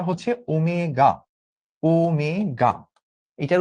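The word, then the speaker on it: omega: এইটার উচ্চারণটা হচ্ছে ওমেগা।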